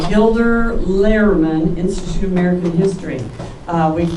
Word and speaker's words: Gilder Lehrman: through Humanities Kansas, and I guess I got it Gildner Rainer. I'm supposed to always say it, I don't say it right, but Gilder Lehrman, Institute of American History.